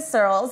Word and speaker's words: Searles: And I'm Searles. It's spelled like curls, but with an S, just to keep it really simple for everybody.